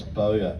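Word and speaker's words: Bowyer: Remember the spelling is B O W Y E R and pronounce BOA as you'll get this all the time and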